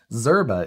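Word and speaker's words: Szczerba: however you spell it zerba is spelled s z c z c-z-e-r-b-a named after the creator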